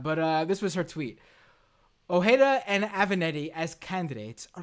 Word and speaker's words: Ojeda: Ojeda, thank you. The guy from West Virginia who already dropped out. Also, Avenetti already dropped out, but this was her tweet. Ojeda and Avenetti as candidates are like the guy